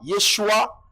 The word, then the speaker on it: Yeshua: le nom Yoshua mais la prononciation n'était pas comme youé avait donné à Moïse c'était yua Yeshua et puis ils ont rendu